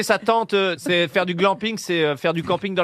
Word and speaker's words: glamping: La première syllabe, puisque c'est un mot valise, à votre avis, elle vient d'où le Glaner. Alors, mais non, le glamping. Gland. Glambe. Bah, Alors, oui, mais vous le sans- prononcez comme si c'était anglais aussi. C'est du camping. Le glam. Ah, oui, Glamour. C'est le camping glamour.